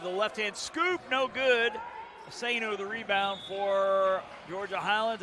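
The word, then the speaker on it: Ousseynou: Okay, first name is spelled S-A-G-N-A, but they're saying it's Sonya, O-U-S-S-E-Y-N-O-U, Asano.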